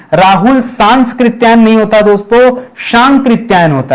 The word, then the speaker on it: सांकृत्यायन: ये केवल स एक ही बार आता है। दो बार नहीं आता है। हम लोग हम लोग उच्चारण ही गलत करते हैं। राहुल सांस्कृत्यायन सांस्कृत्यायन गलत शब्द है। सांस्कृत्यायन शब्द नहीं है। सांकृत्यायन क्या है? सांकृत्यायन बोलिए। पांच छह बार बोलिए और आगे से याद रखिएगा